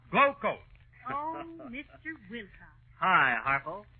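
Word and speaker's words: Glo-Coat: is pronounced rodeo and glo hyphen c-o-a-t is pronounced glow coat oh mr wilcox hi harpal what you doing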